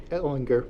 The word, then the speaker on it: Ellinger: mayor or I understand I've been pronouncing your last name wrong all this time it should be Ellinger Ellinger so not a problem